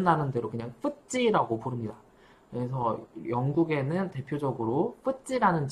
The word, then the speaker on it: FTSE: 같은 지수들이 있고, 영국에는 뭐 요거를 줄여서는 FTSE라고 발음 나는 대로 그냥 FTSE라고 부릅니다.